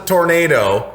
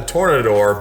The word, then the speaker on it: Tornador: It's not the Tornado. It's actually called the Tornador, but it's funny that you said that because people always mispronounce it, especially detailers, but I'm in the middle of a video.